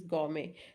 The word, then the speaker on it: gourmet: Gourmet ice cream means very delicious tasty ice cream is gourmet. So there is no sound of T, that's a gourmet, right?